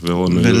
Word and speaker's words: Villeneuve: Now, I read that this director, how do you pronounce his name? Oh, no one knows. Vic? Villeneuve? Villeneuve.